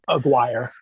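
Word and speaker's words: Aguirre: I hope I'm pronouncing that right. Aguire. Auire. Okay. Rhymes with rhymes with Maguire. Oh yeah. Roberto Aguire Sakaza.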